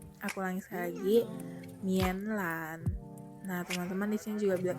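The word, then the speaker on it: 棉兰: Jadi Medan dalam bahasa Mandarin adalah Mianlan. Aku ulangi sekali lagi, Mianlan. Aku ulangi sekali lagi, Mianlan.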